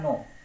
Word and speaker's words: know: KNOW, के से शुरू होता है लेकिन के साइलेंट रहता है, इसलिए इसका उच्चारण हो जाता है नो।